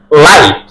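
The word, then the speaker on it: light: আই আছে সে এজন্য জি এর আগে আই থাকলে তাহলে জি টা উচ্চারণ হবে না ডি ই এস আই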